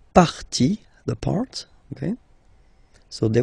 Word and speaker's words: partie: And then, when they're ending with ie, like here, okay, so basically you don't pronounce the e, okay, so it will be only the sound i, okay, for instance, la vie, life, okay, la partie, the part, okay, so